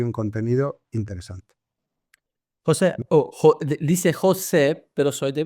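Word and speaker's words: Xosé: Bueno, no, mi nombre es gallego y como sabes, el gallego y porque de eso somos hermanas, así que se pronuncia muy parecido al portugués. Es José.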